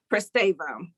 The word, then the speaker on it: Pristavia: 10 they ring on me that's how you pronounce him prestavo okay i know nemesis and jada because of